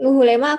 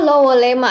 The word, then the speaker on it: Lewolema: Yang benar nggak sih Bu, Luhulema aku bilangnya? Kalau puskesmas pembantunya dulu itu namanya Leworahang. Wilayahnya sekarang Puskesmas Lewolema. Oh, Lowolema. Aduh, maaf Bu, salah pengucapan. Berarti Lowolema di Larantuka, Flores Ya, Timur. Timur. Benar. Aduh, untung di make sure dulu nih ke Bu Eti kalau namanya Lowolema. Soalnya aku pikir Luhulema gitu.